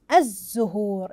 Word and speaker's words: الزهور: من قمريه الزهور احسنتم اذن لام شمسيه تكتب ولكن لا تنطق احسنتم طلاب وطالباتي هل